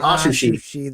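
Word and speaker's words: Atsushi: touched even aushi that's how you say it aushi that's it we haven't even touched like the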